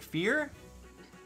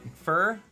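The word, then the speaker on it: Fjorm: up uh we got canon pronunciation of her name which is fear right fear it's not fur or fire fear i don't know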